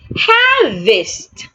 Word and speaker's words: harvest: Harvest. Harvest. In the word harvest, the letter E also sounds A.